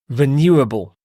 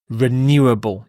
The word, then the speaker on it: renewable: and the next word renewable renewable you stress the new here renewable this means something that